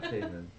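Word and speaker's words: Paemin: Pigman payman payman yeah payman like Raymond with a p uh yeah sure it's it's spelled p a e m i n but pronunciation yeah way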